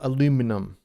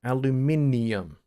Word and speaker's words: aluminium: it is a latin word aluminium it's not aluminum it's aluminium uh aluminium is a chemical element with the